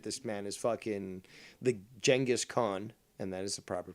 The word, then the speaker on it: Genghis Khan: This man is fucking the Genghis Khan, and that is the proper pronunciation, of the modern age, because he will impregnate half the world, and that's a simple fact.